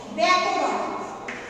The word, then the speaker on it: ব্যাকরণ: যেমন ধরো আমরা যখন বলবো ব্যাকরণ, ব্যাকরণ কিভাবে উচ্চারণ হচ্ছে ব্যা, বয়ে জফলা আকার, অর্থাৎ এই যে বয়ে বসন্ত যুক্ত তারপর দেখো ব জফলা আকার, জফলা তার সাথে আকার দিয়ে ব্যা, এই যে উচ্চারণটা এটা জফলা আকার দিয়ে এর উচ্চারণ হয়।